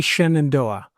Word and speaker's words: Shenandoah: How they say Shenandoah. It's obviously spelled Shenandoah, but they say Shenandoah. Both are mispronunciations because it's an Iroquois word, Zinadoa, and it means daughter of the stars.